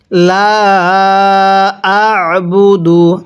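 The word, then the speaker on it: لا أعبد: দু আবুদু লা আবুদু আইনটা পড়ার সময় গলার মধ্যে চাপ দিয়ে পড়বো তাহলে আইনগুলো সহি শুদ্ধ উচ্চারণ হবে লা আবুদু এরপরে মিম আলিফ জবর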